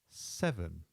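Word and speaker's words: seven: 6 is 6, and 7 is 7. We stress the beginning part of the word, the sev of 7.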